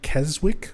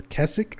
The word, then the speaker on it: Keswick: place um Derwent water in Keswick or Keswick I think it's supposed to be pronounced but it's spelled like Keswick um but yeah the